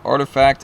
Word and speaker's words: RTFKT: you guys can see artifact rtfkt whatever you want to say know it says artifact there's the load uh their logo or that's what it's you know pronounced out as there's also another part